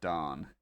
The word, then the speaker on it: Dorne: And yes, his name is spelled Dorne, but it's pronounced Darn essentially.